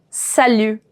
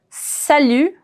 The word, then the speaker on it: salut: done sal sal sal salute salute my T is going to be silent so usually in French